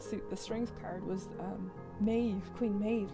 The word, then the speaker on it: Maeve: Like, Queen, if you read up on Queen Maeve, Maeve would be M-E-A-V-E, like that's how it's spelt, but it could be M-E-A-B-H, like that's the B-H is the Maeve, that bit, so the Irish bit.